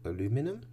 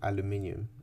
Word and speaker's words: aluminium: reaction between 100 grams of aluminum or aluminium. It like I don't know why I say aluminum. That's what the Americans say.